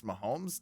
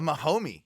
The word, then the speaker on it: Mahomes: Raw and Mahomes, and he cannot pronounce Mahomes. Dave Meltzer is clearly what does he say? A Mahomie. He's Mahomie, and They might be homies, dude.